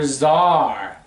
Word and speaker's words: czar: C is for czar.